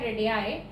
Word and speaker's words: radii: अगर दो सर्कल्स की रेडियस सेम है, देखिए रेडियस का प्लूरल फॉर्म होता है रेडियाई, ठीक है, उसकी प्रोनाउंसिएशन है रेडियाई।